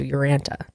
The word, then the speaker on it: Urantia: Yeah, I guess you take the I out. So Uranta.